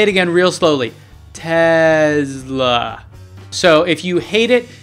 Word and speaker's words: Tesla: I'll say it again real slowly, Tesla. So if you hate it, stop watching now. So where does this come from? Well, Nikola Tesla was a Serbian-American inventor, and he was really